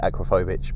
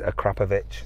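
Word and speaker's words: Akrapovič: exhaust a standard acrapovic I usually say acrophobic but they get upset if you say that it is a krapovic that's how you say it but you know I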